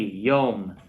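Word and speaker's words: יוֹם: Repeat after me, yom.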